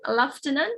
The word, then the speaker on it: lieutenant: word as uh lieutenant so if you use british english you can pronounce this as lieutenant but if you use american english you can pronounce this as lieutenant lieutenant so that is american leftenant it's british right so off kept him